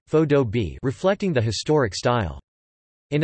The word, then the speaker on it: faux-dobe: but with stucco surfaces, sometimes referred to as faux-dobe, pronounced as one word, faux-dobe, reflecting the historic style.